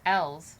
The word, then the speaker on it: Els: And L's, which is funny because it sounds like the letter L, which is why she's saying alphabet boys.